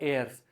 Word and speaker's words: heirs: गई तो उनके लीगल एयर्स, ये एच है, हेयर्स मत पढ़ लेना भैया, वो एच साइलेंट होता है, वो है एयर्स, मतलब उनके जो उत्तराधिकारी